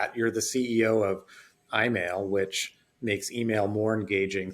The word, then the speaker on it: EyeMail: of where you've gotten to today absolutely so I mail and it's spelled e-y-e-m-a-i-l so I now is a patent-pending